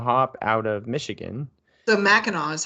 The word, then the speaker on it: Mackinac: which is a hop out of Michigan so Mao is how you pronounce that Ma oh you don't have you